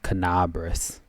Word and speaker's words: Kenabres: Okay, that's how you pronounce it. Kenabres.